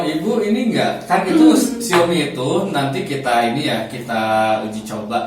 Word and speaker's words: Xiaomi: Ini bacanya Xiaomi, Xiaomai. Xiaomi. Ini ya nih.